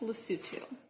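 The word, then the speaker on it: Lesotho: never even heard of spelled loto but pronounced lutu a tiny country completely surrounded by South Africa lutu should not be discounted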